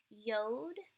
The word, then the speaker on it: Yod: Yod, it's a Y sound, hence the transliterated version is a Y, and it's pronounced like the Y in Yale.